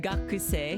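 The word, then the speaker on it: 学生: For this one, actually, you won't pronounce the U. So the U, the U sound here is silenced. So you say gak. So it's more like gak. Gakusei. Then gakusei, you know.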